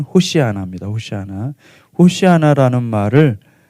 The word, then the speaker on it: 호산나: 그래서 이들은 종려나무 가지를 들고 환호하는데 13절에 보니까 호산나이 헬라어 그든 호산나이 정확히 히브리어 발음은 호시아 오시아나 오시아나 아는 말을 아 시편 118편 보면은이 말씀이